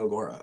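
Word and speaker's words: Agoura: I've said since the first week that this is one of the best Agura teams, did I say it right? Agora teams of the level.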